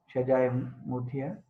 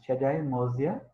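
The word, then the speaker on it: Shajjah Mudihah: Many of people may pronounce Shajae Muthia. More properly, it is Shajae Mozia. In Arabic phonetics, D is Zoe.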